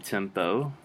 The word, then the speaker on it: tempo: But make sure you listen, and when I say this one, tempo, there's an O sound at the end. I'm basically saying the letter O at the end.